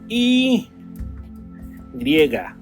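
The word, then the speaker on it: i griega: The next one is the Y and it's pronounced E griggger.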